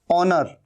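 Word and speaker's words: honour: ऑनर, ये भी एच यहां पर साइलेंट है।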